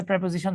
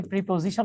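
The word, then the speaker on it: preposition: হয় আপনারা কমবেশি সবাই প্রেপজিশন চিনেন আমরা অনেকে প্রিপজিশন উচ্চারণ করি রিয়েল প্রোনাউন্সিয়েশন ইজ প্রেপজিশন তাইতো আচ্ছা তো প্রেপজিশনের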